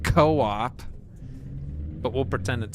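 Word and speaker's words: Coop: Coupe. Look where we are. A only it's pronounced co-op, but we'll pretend it says coupe.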